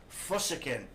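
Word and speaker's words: φυσικήν: And the Greek word for natural, as you can see, I think you can see it on the screen, is physiken. And it's spelled P-H-U-S-I-K-E-N.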